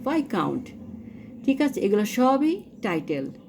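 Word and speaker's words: viscount: এটার উচ্চারণটা ভিসকাউন্ট হবে না, উচ্চারণ হবে ভাইকাউন্ট।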